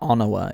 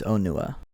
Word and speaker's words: Onua: So it's not Onawa, it's Onua.